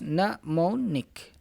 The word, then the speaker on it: mnemonic: this is called mnemonic it's pronounced mnemonic mnemonic ALS mnemonic allowed